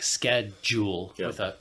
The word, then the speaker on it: schedule: and so you know it will sound more like schedule in British English than in American English more like sched Jewel instead of a u yeah you see that